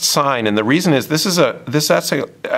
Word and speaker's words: sine: So we write SIN, it looks like it says sin, but it's pronounced sine, and the reason is this is actually an abbreviation.